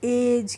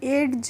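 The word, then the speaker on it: edge: जीई जो होता है इसको हम पढ़ते हैं एज क्या पढ़ते हैं एज पढ़ते हैं और इसको हम एडज नहीं पढ़ते इसमें जो डी होती है वह साइलेंट रहती है यानी कि चुप रहती है तो हम जी का प्रोनंसिएशन नहीं करते हैं इसीलिए हम इसको एज पढ़ते और जज मींस होता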